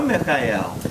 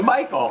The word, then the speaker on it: Mikhail: I should tell that you're the only one who pronounced my name correctly right everybody else calls you Michael I I know it should be M I have Russian background so I feel a